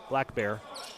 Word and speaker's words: Black Bear: called for the foul he's listed as black on the roster and like i said when i asked to them pronunciations at the beginning of the season i said niehae black and he said black bear so he would prefer to be called the ahi black bear all thrown away as